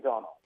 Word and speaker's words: Domhnall: Good morning, Domhnall. Good morning. Thank you for pronouncing my name correctly.